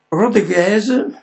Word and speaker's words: Rodriguez: Rodriguez, sentite lo pronuncio alla francese perché è francese, ma direi è anche italiano e anche spagnolo, quindi bisognerebbe pronunciare il nome in tre modi diversi.